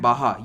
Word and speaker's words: Baja: को हम कहते हैं बाहर ये के जो है हा की तरह प्रोनाउंस होता है क्योंकि स्पेनिश भाषा है तो ये कैलिफोर्निया है